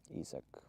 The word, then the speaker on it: Isak: Yeah, if you're wondering how to pronounce my name, it's Isaac. Like like in English it would be with the letter E in the front and then S-A-K, I guess. But yeah, it's Isak.